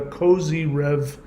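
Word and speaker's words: Kozyrev: you can go look for something called the Cozy Rev Mirror. It's spelled K-O-Z-Y-R-E-V, Cozy Rev Mirror.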